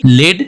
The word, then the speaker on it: lead: तो LEAD लेड जो metal का काम करती है और LEAD लीड जब बोलेंगे, जब प्रोनाउंस करेंगे लीड, तो यहाँ पे नेतृत्व